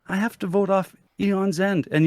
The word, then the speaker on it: Aeon's End: have to vote off Eon's End. And yes, Eon is the proper way to pronounce it. Eon's End. Yeah. Eon's End? Yeah. I just learned something today. I've been pronouncing it Aeon's End forever.